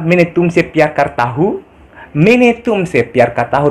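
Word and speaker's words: मैं: Mene tumse pyar karta hu. Tulisannya main tumse, tapi dibacanya mene guys.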